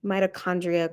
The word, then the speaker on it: mitochondria: before, but the ch we don't say the ch sound in science. I don't know why the ch always sounds like a k. Mitochondria, chromosome, chloroplast.